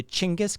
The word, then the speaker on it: Genghis: Just fun fact, the proper pronunciation of Genghis Khan is really fucking strange, actually. Go on YouTube and search for it. It's always interesting to hear native speakers say it because it's closer to Chinggis Khan.